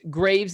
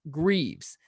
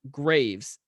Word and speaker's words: Graves: But, quote, most Graves in Texas pronounce the name with the first E silent, i.e. Graves. But I have kinfolk that pronounce it the way Alex did on the podcast, Greaves.